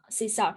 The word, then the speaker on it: CSAR: main chinese cosmetic regulation is called uh csr czar so sometimes i call them just star easier for me to pronounce and so c-s-a-r i